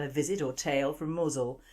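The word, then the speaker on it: Mousehole: visit or tale from mosle that's how it's pronounced but the spelling looks like mouse hole in 1595 a fleet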